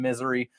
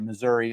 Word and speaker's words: Missouri: could have been in misery that would have been I'm sorry Missouri I was pronouncing that wrong uh so you know